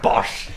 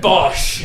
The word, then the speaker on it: Bosch: Uh you walk in and he's like, "George, George Cavaninoi, lovely to meet you, Richard Boss." Richard Bosch. Bosch.